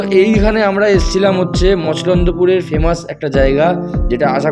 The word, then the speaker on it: মছলন্দপুর: হচ্ছে মসলন্দপুর মসলন্দপুর মসলন্দপুর এইখানে এই ব্যাপার যে সবাই মসলন্দপুর বলে এই উচ্চারণটাই সবাই ঠিকঠাক ম এর পর ছ আছে ছ ছ মসলন্দপুর আচ্ছা মসলন্দপুর গাইজ তো